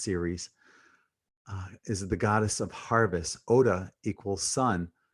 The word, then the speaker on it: Ceres: Ceres, that's how it's pronounced, Ceres, is the goddess of harvest.